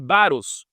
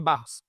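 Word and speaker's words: βάρος: Aqui o termo utilizado por Paulo fardos em grego se se escreve baros. Baros com um r só, não é barros, né? Baros.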